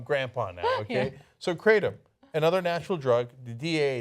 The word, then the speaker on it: kratom: Well, how do we pronounce that the other drug? Kratom?